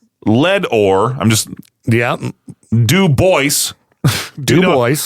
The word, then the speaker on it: Dubois: Dubois Dubois No, but it's like Dewboys. It's like D E W hyphen boys.